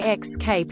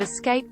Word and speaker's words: escape: the S is silent you don't hear anyone pronounce the silent s in Arkansas do you anything when people say x Cape instead of Escape pouting my sister says flustrated and it drives